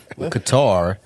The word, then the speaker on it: Qatar: Qatar, very common in North American media through the shifts of the stress of the second syllable.